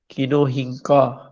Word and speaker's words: Kinorhyncha: भी आ रहा होगा फाइलम किनो रिंका बी की प्रोन प्रोनंसिएशन बनती है बाज प्रोनंसिएशन में इसको किनो हिं का आर साइलेंट जो है वह पढ़ते हैं और एक जगह पर इसको मैंने देखा कि नौर हिं का कहा गया तो जो मैं